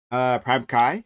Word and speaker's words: Prime Kai: Prime Kai. That's how that is pronounced, but like, don't worry about it.